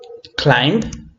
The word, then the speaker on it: climbed: We have climbed, climbed, and climbed. This is with a D pronunciation.